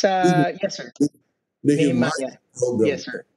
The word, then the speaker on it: Nehemiah: Nehemiah. Program. Yes, sir. It sounds, it rhymes with Jeremiah.